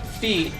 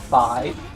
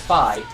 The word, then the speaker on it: Fi: I keep thinking her name should be pronounced Fee, not Fi. That said, the cutscenes do pronounce it as Fi, so I know it is technically Fi.